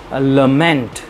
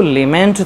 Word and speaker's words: lament: Next one, लमेंट। इसको लेमेंट तो लिखते हैं, बट इसका प्रोनाउंसिएशन होता है लमेंट।